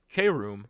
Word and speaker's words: K-Room: K-Room, pronounced similarly to the word chrome, however, allows the user